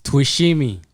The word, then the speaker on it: Twishime: it's a hard one man try it it's twishimi toshimi yeah yeah mineswalito oh yeah yeah okay yeah